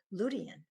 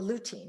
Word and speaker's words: lutein: be in minuscule amounts until I got to lutein, or lutein, you can pronounce it either way.